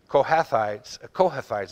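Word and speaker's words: Kohathites: the and the of the children of the kohathais is how that's pronounced and of the children of the korahites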